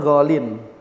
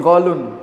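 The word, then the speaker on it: غالٍ: Dan galin ini adalah kata yang di dalam bahasa Arab enggak mungkin bisa dammah. Dia pasti bacanya galin. Oleh karena kita akan jumpai apa? Misalnya hadal kitabu ghalin. Enggak mungkin ghalun. Enggak ada ghalun.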